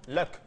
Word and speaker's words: Luxon: s'appelle à l'état civil Luxon en anglais c'est Luc qu'il faut prononcer correctement luck la chance et son